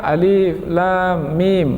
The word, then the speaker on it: الم: Karena kita melafalkannya berdasarkan namanya, alif, lam, mim. Kita tidak membacanya dengan huruf vokal. Bukan "alam".